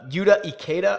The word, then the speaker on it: Yuta Ikeda: Oh, Fisher, who actually won his group last year, but Yuta Ikeda, I believe is how you pronounce it, and then Matt Kuchar.